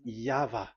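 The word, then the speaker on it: Yahweh: Pronunciation is equal V. It is V. Y H V H. So it is YAHVAH.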